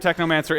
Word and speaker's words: Technomancer: The Technomancer, right? It rhymes with my favorite book, Necromancers, or Neuromancer, Technomancer.